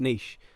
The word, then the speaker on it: niche: seen leash over here which is a French word by the way so I'm pretty sure it's pronounced niche like quiche it's spelt